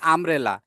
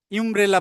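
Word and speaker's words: umbrella: University, কিন্তু এখানে বলতেছি আমব্রেলা, ইউমব্রেলা বলতেছি না আমরা, আমব্রেলা। তাহলে ইউ এর উচ্চারণ এখানে হুবহু ঠিক নাই, যে কারণে আমি অ্যান দিচ্ছি, কিন্তু এখানে হুবহু আছে এই জন্য আমি এ দিলাম।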